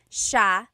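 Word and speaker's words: siya: It's sha sha. The s i y combination makes the sh sound in tagalog.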